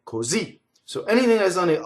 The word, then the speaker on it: così: and became truncated, or just end on the last syllable, right? So that's the ultimate stress, like così.